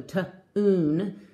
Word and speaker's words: tune: is thun thun and this is a long vowel the e is silent and it makes that you say its name so tune tune so I'm gonna